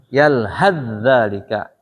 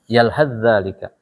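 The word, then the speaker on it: يلهث ذلك: Zalika. Gimana bacanya? Ah? Yalhadzalika. Hilang saknya. Dua kata diidghamkan jadi satu. Yalhadzalika bacanya.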